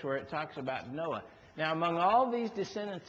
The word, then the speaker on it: Noah: That's how you say it, Noah.